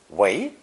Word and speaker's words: 为: Next, we have the second tone, 为 pronunciation for the verb use.